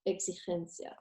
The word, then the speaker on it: exigencia: Or exigencia.